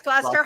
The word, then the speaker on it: Gloucester: Well, we've got Lynn Skinnell says, greeting from Gloucester. Is that, how do you say that? Gloucester. Yeah, it's Gloucester.